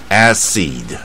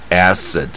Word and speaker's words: acid: 不是 acid，而是 acid 啊，所以这个台湾